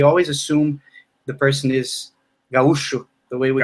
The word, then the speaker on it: gaúcho: And you say gaúcho. In Portuguese, gaúcho. Yeah, in Portuguese, no matter where you go, you will hear people say gaúcho.